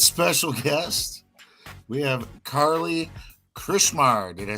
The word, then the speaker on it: Krichmar: Tonight's special guest, we have Carlee Krichmar. Did I say that right? So close. Krichmar. Yeah. Krichmar. Krichmar. It's like Richmar with a K.